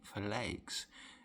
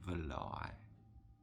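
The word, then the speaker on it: Verlaix: I would probably say that's pronounced de Falai, because it's spelled capital V-E-R-L-A-I-X. So to pronounce that in the French pronunciation would be Valai, I would assume.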